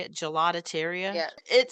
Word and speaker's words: gelateria: because when I was looking at this gelateria, is that how you say it? Gelatateria?